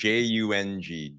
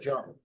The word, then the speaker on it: Chung: Yeah, it's That almost like Jung, Jung, but Chung.